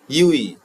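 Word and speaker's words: ewe: যেমন এ ইউই, এখানে ভাওয়েল আছে ই, তবু এর উচ্চারণটা হচ্ছে ইউ এর মতো, সেই জন্য এখানে বসবে এ।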